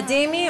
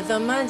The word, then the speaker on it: dhimmi: A dhimmi or a dhamma, depending on the pronunciation, is a tolerated people.